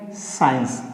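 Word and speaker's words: science: और यहाँ पे क्या हो गया, साइंस, यस को हम प्रोनाउंसिएट नहीं करेंगे।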